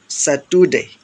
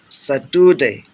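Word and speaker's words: Saturday: Part আমরা সাধারণত part উচ্চারণ করি, কিন্তু বলা লাগবে পার্ট, পার্ট, আরটা সাইলেন্ট হয়ে যাবে। স্যাটারডে বলি সাধারণত আমরা, কিন্তু বলতে হবে স্যাটুডে, স্যাটুডে, স্যাটুডে, আরটা উজ্জ্ব রাখতে হবে।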